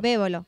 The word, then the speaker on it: Bébolo: Bébolo, con acento en la E.